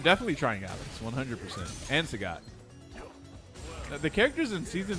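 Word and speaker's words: Sagat: Sagot, not Saget.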